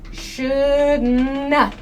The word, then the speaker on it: shouldn't have: Shouldn't have is pronounced as shouldna. Shouldna. So this should not, this nt sound in shouldn't becomes it's hard to hear this sound.